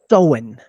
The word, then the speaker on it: Samhain: El origen del Halloween, el proto Halloween, esta fecha se lee Samhain. Samhain.